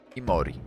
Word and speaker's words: Imori: japońska dzisiaj gekony jok i Mori to duchy małych wojowników przemieniony w gekony zapisie w Kori oznacza Gekon jednak wymawia się to imori traszka cały zwrot oznacza